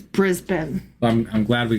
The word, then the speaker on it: Brisbane: And also, um the the city of of Brisbane, it's not pronounced Brisbane, even though that's how it's spelled. It's Brisbane.